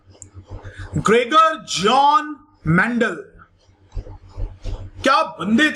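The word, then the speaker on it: Gregor: किस प्रकार से बोलना गलत होगा, किस प्रकार से जॉर्ज नहीं बोलेंगे, ग्रेगर बोलते हैं शायद, pronunciation should be like ग्रेगर John Mendel जो है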